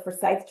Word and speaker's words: Forsyth: This one's called the Forsyth Journalism Fund.